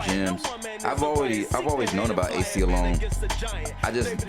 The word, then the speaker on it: Aceyalone: Oh, Aceyalone.